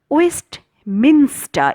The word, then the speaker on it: Westminster: careful upon means on waste minster it is not minister okay so be very careful of slip of the tongue Westminster breeze it is